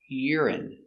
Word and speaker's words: urine: Ur, ur, ur, uri, uri. Urine. Stress on the first syllable.